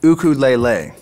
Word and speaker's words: ukulele: ukulele hey man nice ukulele thanks yeah i built it myself uh actually in hawaii it's pronounced ukulele you don't have to